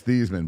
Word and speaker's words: Theismann: It was Thiesman, but that has nothing to do with penises. Well, I'm just saying, you can. Does it? It's kind of the exact same thing. He changed the pronunciation.